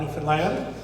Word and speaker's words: Newfoundland: I love to talk about Newfoundland. That's how you say it.